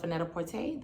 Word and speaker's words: Net-a-Porter: got these shoes off vanetta porte that's how they pronounce it when i call customer service like when i make